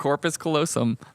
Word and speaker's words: corpus callosum: Yeah, corpus callosum.